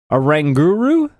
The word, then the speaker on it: Oranguru: Next Pokemon is Oranguru. Yeah, like orangutan and guru. I think Right. You're saying it correctly.